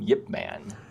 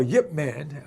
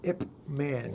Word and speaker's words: Yip Man: is Yip Man and why do we call him Yip Man? Well, Yip Man, Grandmaster of Wing Chun, Hong Kong many years ago, which is spelled Y-I-P-M-A-N. For some reason, it changed when the movie came out. They started making all these movies, and they printed it out as Ip Man.